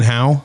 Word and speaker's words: Howe: all the different pronunciation one time I was talking to a customer service person she said Howie a few times it's actually been how and she goes well